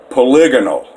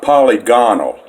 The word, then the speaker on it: polygonal: And by the way, now, speaking of that, look, polygonal, that's how you pronounce that word, not polygonal, polygonal.